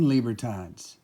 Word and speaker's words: libertad: do you pronounce lieberton it is a mexican coin after all so the spanish pronunciation is libertad so you could walk